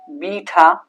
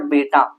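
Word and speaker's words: beta: आया, और यहां से बीटा, नॉट बेटा, नॉट बेटा, देखो स्पेलिंग, देखो स्पेलिंग बेटा, और इसकी स्पेलिंग अल्फा। बट ये बेटा नहीं बोलते, ये होता है बीटा।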